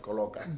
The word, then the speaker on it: Koloka: Gore le pronounce Koloka. It's Koloka.